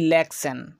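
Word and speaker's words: election: তেমনি করে বলা যাবে অপশন, তেমনি করে বলা যাবে ইলেকশন। তো প্রত্যেকটি ওয়ার্ডে আমরা শব্দের শেষে পাচ্ছি টি আই ও এন, এর পূর্বে আমরা এস ব্যতীত অন্য লেটার দেখতে পাচ্ছি, তাই আমরা সন এর মতো উচ্চারণ করছি।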